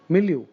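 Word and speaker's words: milieu: trusting anyone's motives so minuscule amount very tiny milu this is an important word m i l i e u milu in this particular milu that means in this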